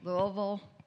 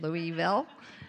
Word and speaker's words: Louisville: Louisville, Kentucky. So I actually can say it right instead of Louisville.